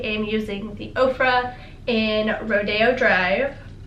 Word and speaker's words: Rodeo Drive: Oprah in Rodeo Drive I actually said it right this time instead of Rodeo Drive because I'm from Texas and that's how I say it but whatever I'm gonna say it supposed to be said Rodeo Drive last but not